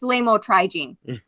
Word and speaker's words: lamotrigine: And we got a nurse over here that she knows how to pronounce those things. It's lamotrigine.